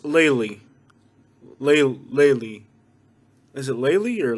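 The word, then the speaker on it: Lely: it's part of the naples area and it's pronounced laylee laylee is it laylee or laylee lately like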